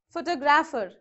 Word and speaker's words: photographer: Photographer. If ER, then the shift will change to the second syllable.